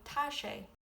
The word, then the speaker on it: tá sé: For it is as in today you say tash.